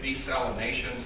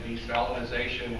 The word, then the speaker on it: desalination: big picture things with desalination to begin. At the top, people take, I guess we're supposed to say desalination. Some people say desalinization and all sorts of other things. We're in West Texas in